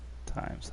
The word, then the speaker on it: Thames: sorts of west afghan thames or times it's time it's pronounced times huh or something oh